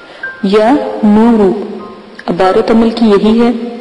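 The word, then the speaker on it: يا نور: تو آپ لفظ کے ہجے سن لیں۔ یا زبر یا، نون پیش و نو، را پیش رو، یا نورو۔ عبارت عمل کی یہی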